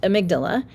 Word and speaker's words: amygdala: Now, some people pronounce this amygdala. I pronounce it amygdala.